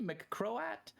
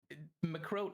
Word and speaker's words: McCroat: It's technically McCroat, but Croat. McCroat rhymes with goat, so how can I complain?